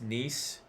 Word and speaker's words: Nice: Yeah, from the English dub, it's like pronounced niece. Yeah, it's Oh, niece. Okay. Yeah, like niece.